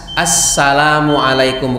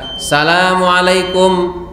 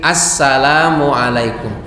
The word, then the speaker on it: Assalamualaikum: ya suaranya lantang kemudian yang salam bukan Salamun tapi as pakai Alif lam syamsiahnya as Assalamualaikum Bukan assamualaikum tapi Assalamualaikum yaitu memang ee sepertinya sepele